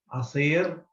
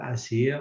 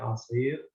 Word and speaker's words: عصير: Now, this is عصير. Okay. With the open mouth, the ayn and the sad. I think I pronounced it well. عصير, not asir, عصير.